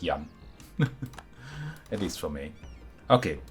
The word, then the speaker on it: Jan: But when I pronounce it for other people, and especially in English, I don't pronounce it as it is pronounced sometimes. It's just Jan.